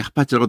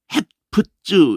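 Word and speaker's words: חפץ: 이게 하파츠라고 돼 있잖아요. 이게 헤프츠 이렇게 했는데 헤프츠 이랬는데 하파츠예요. 무조건 아으 발음하면 돼. 다 잊어버려도 돼. 그냥 하파츠 그러면 돼요.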